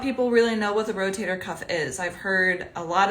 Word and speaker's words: rotator cuff: really know what the rotator cuff is. I've heard a lot of different pronunciations of it. So the rotor cup, rotary cup, rotor cuff.